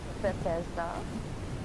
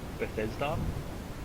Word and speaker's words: Bethesda: cannot say their name to save me life Bethesda Bethesda there we go Bethesda Bethesda Bethesda um yeah well I I can tell you what I hope that I hear from bethesda's press conference but it won't happen is a